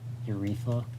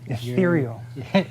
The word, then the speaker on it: Ethereal: And just in case that 5-up invuln doesn't help me very much, I got my how do you say it? Urethra? Urethra. Ethereal. Ethereal.